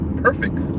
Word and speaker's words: perfect: Perfect. Say perfect with me. Perfect. Make sure you pronounce the T.